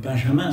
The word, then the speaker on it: Benjamin: on parle de quelqu'un dont je vais vous parler, qui est Walter Benjamin, on peut dire Benjamin si on veut le prononcer à la française.